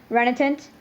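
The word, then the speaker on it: renitent: us remittance renitant okay right uh can you pronounce the word again r e n i t e n t renatant that's correct thank you it sure seemed like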